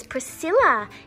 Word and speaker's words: Priscilla: It's a bit of a tricky one. Priscilla. So how you say it is Priscilla.